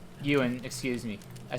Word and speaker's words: Ewan: But it's spelled with a W, so that my brain says it Elwin.